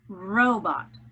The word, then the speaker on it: robot: My word is robot. Robot. The accent is on the first syllable.